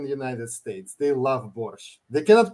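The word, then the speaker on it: borscht: traditional Ukrainian soup called Bor that's how you pronounce it borch it's made with yeah it's it uses beads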